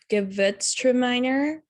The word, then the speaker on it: Gewürztraminer: So for my grape varietal, I chose Gewürztraminer. I believe is how it's pronounced.